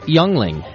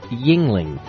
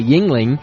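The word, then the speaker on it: Yuengling: Youngling is not pronounced Youngling. It's pronounced Yingling. Thanks, Don. I appreciate the correction. He's from Pennsylvania. It's spelt Youngling, but I guess you're supposed to say Yingling, which sounds much more Asian to me.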